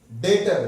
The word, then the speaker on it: debtor: लिए गुड्स कहला next डेटर देखिए य लिखा तो डेप्ट जाता है लेकिन इसका प्रोनाउंस डेटर आएगा बी साइलेंट है य डेटर का मतलब